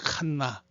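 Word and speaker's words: חנה: 칸나는 영어로 헤나라고 읽는데 H-A-N-N-A-H, 여기 있는 요 따개시 요 점 때문에 n이 두 개 들어가 있는 걸 이렇게 보이죠. 근데 정확하게 읽으면 칸나야, 칸나, ch 사운드가 나죠.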